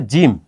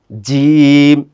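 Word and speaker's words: جيم: ওকে এরপরে যেটা আছে জিম এটাও খুবই সহজ বাংলায় যে জ আছে বর্গীয় জ সেই জ এর মত এটার সাথেও কোন কমপ্লেক্স কোন ব্যাপার স্যাপার নাই আপনি আমার সাথে একটু উচ্চারণ করেন জিম এটা জিম লিখতে হয় কিভাবে জানেন?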